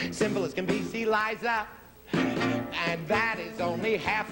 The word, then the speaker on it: Liza: It's Liza with a Z, not Lisa with an S, because Lisa with an S goes nuts. It's Z instead of S, it's Li instead of Lee.